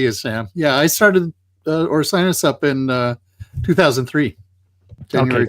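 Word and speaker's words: Orcinus: uh your blog which I have been apparently mispronouncing for uh 18 or 19 years which I thought was uh ornicus and you have just told me it uh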